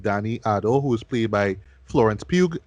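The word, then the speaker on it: Florence Pugh: Otto who's played by Florence puke please that's how you pronounce her name and she is going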